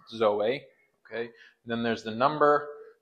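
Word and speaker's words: ζωή: so there's the Greek there's the pronunciation de Zoe so it's Zoe okay then there's the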